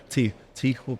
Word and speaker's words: Tijuana: And you're right down the bottom, and you're overlooking Tijuana. Tijuana. Yeah, Ryan taught me how to rough on pronounce the throat when I say Tijuana that.